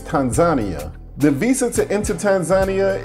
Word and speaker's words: Tanzania: I was used to saying Tanzania, but the locals let me know that the right pronunciation is Tanzania.